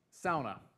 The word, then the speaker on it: sauna: but mixed with modesty Sona that's how they say it's ona sauna sauna right really hot it's